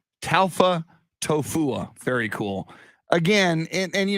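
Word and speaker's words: Taufatofua: it so i i i saw a video of him saying it it's tau alpha tofu yes pita talfa tofu very cool again and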